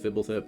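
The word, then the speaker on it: Fblthp: Yes, it's pronounced Fibble.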